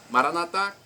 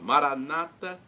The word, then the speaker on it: Maranata: clamo Maranata ou Maranata Maranata pronúncia católica com a tônica na última sílaba Maranata pronúncia dos Evangélicos ou protestantes nossos irmãos separados colocam a tônica na penúltima sílaba os evangélicos ou protestantes